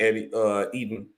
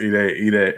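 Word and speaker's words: Edey: Purdue, Zach Eden. Wow, man, I said it wrong. What's his last name again? I'm sorry. I think it's pronounced Ede or Eddie.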